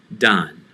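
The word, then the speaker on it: דן: to a name like done done as we look at some vocabulary words done done so dan is pronounced don as danielle or daniel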